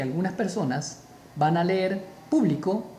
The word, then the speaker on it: público: Para que sea una palabra esdrújula, que es donde a lo que nos estamos haciendo referencia, para que diga público, o sea, mayor fuerza de voz en pu, debemos colocarle acento.